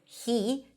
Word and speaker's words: he: The word he is pronounced with an h and a high e. He, he, he he. Well, when it's unstressed or in the middle of the sentence, which is usually the case, we drop the H and we